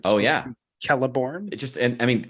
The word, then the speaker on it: Celeborn: it is menus yeah uh the Sheep Galadriel pronounces her husband's names celeborn oh yeah kelleborn it just and I mean and that is